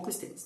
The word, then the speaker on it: Clístenes: Quem vai instaurar a democracia ateniense, como ela será lembrada em algum momento, é um carinha chamado Clístenes. Ou Clístenes, depende da sua pronúncia.